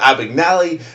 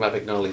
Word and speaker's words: Abagnale: Oh, I was remembering the way you don't pronounce it from the early scene with the teacher. Not Abagnale, not Abagnale, No, it's Abagnale.